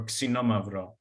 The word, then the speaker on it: Xinomavro: And the main grape that we talk about and that is grown in this area is called Xinomavro or Xinomavro with the proper Greek pronunciation.